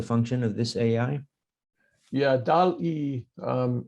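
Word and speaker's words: DALL-E: Yeah, DAL-E, it's D-A-L-L, like wall, but spelled with a D.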